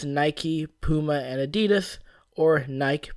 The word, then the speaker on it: Nike: the profanity mentioned previously Nike is two syllables unless you pronounce it like the British do for some reason the original ancient Greek seems to be pronounced Nik and it makes sense that neither Nike or Nike would be correct because those vowels really make those sounds outside of English which